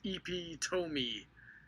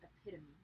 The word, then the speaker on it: epitome: uh thing here and he says ep tomy and that is that is definitely not the right way to pronounce that brandon epitome epitome epitome i got